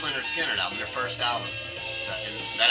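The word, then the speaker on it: Lynyrd Skynyrd: is an homage to leonard skinner's uh pronounced leonard skinner their first album and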